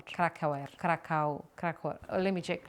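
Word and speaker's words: Krakauer: John Kraau. Krakow. Krakow. Kra. Let me check. Let me check. Cracker. The crack rhymes with crack and the hour sounds like hour. Is John Krakaw.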